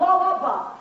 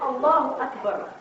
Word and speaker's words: Allahu Akbar: But where that stuff is, it's not Allahu Akbar, it's Allahu Akbar. It's the way it's said, Allahu Akbar, not Allahu Akbar.